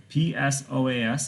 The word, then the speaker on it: psoas: This word right here, psoas, P-S-O-A-S, is pronounced psoas.